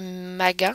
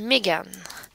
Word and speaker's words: Mégane: Donc, vous vous souvenez tout à l'heure, elle disait Magan, il me semble. On va aller l'écouter. Magan. Et moi, je vais entendre Megan.